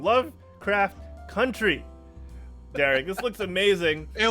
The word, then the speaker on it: Lovecraft Country: looking to premiere really soon, just like the Lovecraft County show. Damn, I keep saying it wrong. Lovecraft Country.